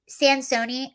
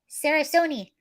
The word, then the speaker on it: Sansoni: Sansoni, Sansoni, Sansoni. That's how you pronounce it. It's Italian. It's pronounced actually just how it's spelled, but most names aren't.